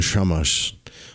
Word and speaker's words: Shamash: Curiously enough, the Syrian prince Atu Samas, pronounced Shamash, also known as Marduk,